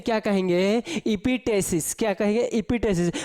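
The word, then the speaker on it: epistaxis: इपिटेसिस। क्या कहेंगे? इपिटेसिस। प्रोनाउंसिएशन देख लीजिए, अगर बिहार बोर्ड वाला पढ़ेगा तो इपिटेक्सिस पढ़ेगा। क्या पढ़ेगा? इपिटेक्सिस। लेकिन अगर सीबीएसई वाला इसी को पढ़ेगा इपिटेसिस। क्या है? इपिटेसिस पढ़ेगा।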